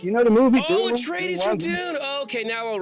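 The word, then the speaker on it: Atreides: nice day all right and how do I pronounce it again atres Tres atres Dune reference you know the movie oh trades from Dune okay now I'll remember it thank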